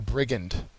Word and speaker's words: brigand: he would be a brigand uh brigand has the first syllable accented it's a noun and